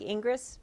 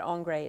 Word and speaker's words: Ingres: and paintings of andre it looks like ingress but angry is how you say it so let's look at